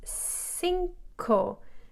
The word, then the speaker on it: cinco: cinco that is because every time in spanish the letter c comes right before the letter e or the letter i it's pronounced like an s so sing ko and